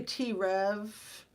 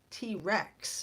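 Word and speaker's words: T. Rex: And then these young adults, I mean, I think a T Rev, and I'm not saying it right, not T Rev, that's a content creator. T Rex, if you guys are familiar with the amazing rock and roll band T Rex.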